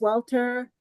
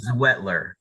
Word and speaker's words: Zwetler: Patty is Executive VP of Clinical Services, and AJ's Welter. Am I saying that correct, AJ? You're actually very close. Okay. Zwetler. Oh, so the Z is very well pronounced.